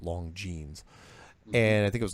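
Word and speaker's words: Longines: this show called the long genes chronoscope which is spelled l-o-n-g-i-n-e-s but it's pronounced long genes and i think it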